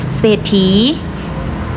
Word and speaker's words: เศรษฐี: ศาลา นะ คะ อ่าน ว่า โศก เศร้า เศรษฐี ออก เฉพาะ เสียง ศ. ศาลา อ่าน ว่า เศรษฐี ต่อ ไป ทร ค่ะ ทร